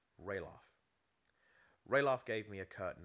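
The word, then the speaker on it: Ralof: sounds nice quill booy pronounced it riloff Roff gave me a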